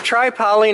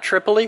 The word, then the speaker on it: Tripoli: It's tri-poly, not triply. It's tri-poly. How it's pronounced in the industry, even though it would look like Tripoli.